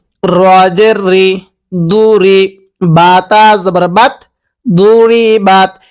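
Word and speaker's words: ضربت: দ পেশ দু রজ দুরি বাতা জবর বাত দুরিবাত এই দকে আমরা যদি দাল উচ্চারণ করি তাহলে পড়াটা সহি শুদ্ধ হবে না কিভাবে পড়তে হবে দবাতন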